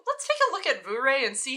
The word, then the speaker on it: Vuori: As you know, there's been a lot of debate on how to pronounce Vuori, so here's Rita from Finland to tell us how. Vuori.